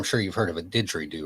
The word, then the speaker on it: didgeridoo: I was in Australia, and obviously, I'm sure you've heard of a didgeridoo, right? I think I'm saying it right. Yeah, didgeridoo.